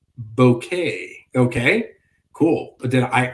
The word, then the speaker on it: Bucket: house that's cool bucket is pronounced bouquet okay cool but then